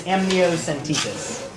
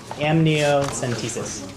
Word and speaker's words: amniocentesis: the word the word for that and the pronunciation is amniocentesis amniocentesis the opposition has um effectively effectively brought three